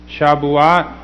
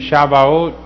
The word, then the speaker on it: Shavuot: Okay, now this is the festival of Shavuot. Okay, another pronunciation is Shavuot. Okay, and another one is Shavuot.